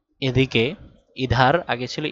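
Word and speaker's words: ادھر: দিতে সাহায্য করবে তার হা এর আগের শব্দের উচ্চারণ একটু বদলে দিবে ইধার এদিকে ইধার আগে ছিল ইদার দাল ছিল এখন ধা পড়তে হবে ইধার মানে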